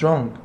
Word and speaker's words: wrong: What's wrong يبقى اللي ناقص هنا what's wrong، ال W silent مش بتتنطق.